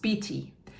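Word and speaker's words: bity: word for king of Lower Egypt, which is pronounced BT. So here the bee is used logographically to sound out beet, but the bee also carries its meaning as a metaphor for royalty.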